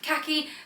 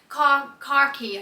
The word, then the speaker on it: khaki: By the way, people find it strange the way I say khaki. I think it sounds normal, but apparently I'm saying it wrong. I've heard this on TikTok quite a few times. So khaki, khaki, I think they try and tell me to say, with an R in it.